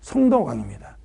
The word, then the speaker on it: 성덕왕: 선이 아니고 성덕왕입니다. 내가 좀 발음이 시원찮아서 또 잘못하면 또 이상하게 듣는 사람이 있을 수 있죠.